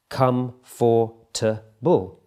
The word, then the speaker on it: comfortable: so an example comfortable comfortable this is a four syllable word when it's written down comfortable in spoken English that gets reduced to three syllables comfortable can you see how the O and the r sound has been removed Comfort Comfort comfortable are